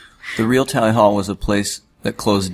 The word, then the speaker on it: Tally Hall: me I was like apparently it's pronounced Tally Hall but I can speak to that that's a very uncommon misconception it's have always been pronounced Tally Hall and seemed seems that we've never encountered that problem before the real Tally Hall